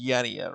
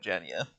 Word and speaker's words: Jania: You know, Jania is pronounced as Yania, right? Not Jania.